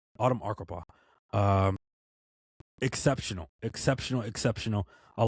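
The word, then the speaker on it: Arkapaw: win this award uh for centers uh Autumn Archipa mispronounc his name. Autumn Arupa.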